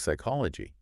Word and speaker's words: psychology: Um, and then the H in hour, huh, is silent because of its Latin roots. I see. And then we have words like psychology, right?